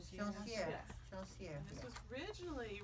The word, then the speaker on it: Joncières: And this is Joncières. Joncières.